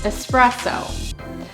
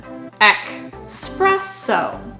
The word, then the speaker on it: espresso: But actually, expresso with the /k/ sound like 'express' is a misspelling of the Italian 'espresso'. So you might hear some people pronounce it as 'ek spress o' because it comes fast express style.